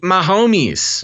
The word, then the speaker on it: Mahomes: It's Patrick Mahomes. Yeah, there you go. Because he's my homie.